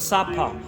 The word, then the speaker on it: Sapa: It's called Sapa, where they have the rice terraces. That's another area, Sapa.